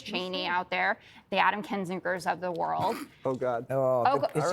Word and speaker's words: Kinzinger: Kunzinger. You're not sorry. Kinzinger. No, both of you are It's wrong. a hard name to pronounce. It is not. Kinzinger.